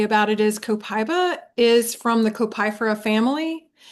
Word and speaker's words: copaiba: Um, our copyra cop it's pronounced copaiba and I use it if I have mental stress or strain.